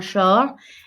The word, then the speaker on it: short: Un short. And that T is silent.